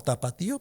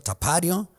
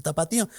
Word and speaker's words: tapatío: Así que si se lo quieren llevar como tapatío, pues ahí está. La reacción de ellos fue, no es que tapateo es una palabra muy difícil pronunciación en Estados Unidos. La gente le va a pronunciar tapario.